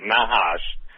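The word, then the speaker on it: Nachash: And Mark, explain, the Hebrew meaning of N-A-C-H-A-S-H, because I think they pronounce it Nahash, but the point being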